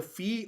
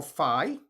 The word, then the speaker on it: phi: This is the Greek letter phi or phi. Different people pronounce it differently. It's like our letter PH or F.